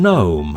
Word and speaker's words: gnome: / ˈaɪ ɡes ˈaɪ ɪɡ.ˈzɪst / Silent G In some words, the letter G is not sounded and is known as the silent G. The silent G is usually found before the letter N, and occasionally before the letter M.